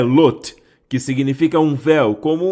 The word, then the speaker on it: Lot: falou com Abraão certo ló é na verdade a palavra lote é assim que se pronuncia e lote e em hebraico significa